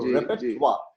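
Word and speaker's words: repertoire: वैसे real spelling है REPETOIER। हाँ, एग्जैक्टली। रेपेट्वा बोला कैसे जाता है इसको प्रोनाउंस, तो रेपेट्वा, तो वो स्पेलिंग ली ताकि लोगों को बोलने में थोड़ी आसानी हो।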